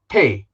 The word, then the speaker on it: Pei: been called i prefer pay it's it's easier for me to pronounce some people call me pay so what happened is